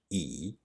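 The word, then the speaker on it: 已: On the right, we have a component that is pronounced E and means already.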